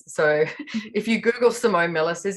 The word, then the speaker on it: Simone Milasas: And so far I haven't discovered another Simone Milasas. So if you Google Simone Milasas, it's my Instagram handle, Facebook, website, all of that.